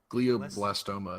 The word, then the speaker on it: glioblastoma: It's glioblastoma.